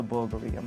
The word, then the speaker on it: Bulgari: is i'm glad you noticed that it's a bulgarian yes that is the correct pronunciation that bulgari only a thousand of these